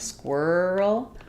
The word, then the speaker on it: squirrel: Um so as we were saying for squirrel we had the were sound squirrel for quar this has the or sound.